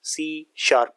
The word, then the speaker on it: C#: से किया जाता है लिखा सी टेस्ट आता है वह प्रोनाउंस सी शार्प किया जाता है ठीक है अब क्यों